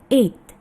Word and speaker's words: eight: Yang betul adalah eight. G-nya tidak kedengaran ya. Jadi langsung kita mengucapkannya eight.